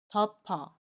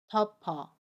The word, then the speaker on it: 덮어: 그러면 받침 피읍이 이응 자리로 가서 덮어라고 발음해요. 마찬가지로 연음입니다. 덮어, 덮어.